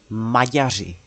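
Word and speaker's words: Maďaři: practice their tongue twisters, you can try pronunciation in Czech, which is Magyari. Yeah, there's the sweet little R, which gives a lot of trouble to a lot of people, including myself. Oh, Germany.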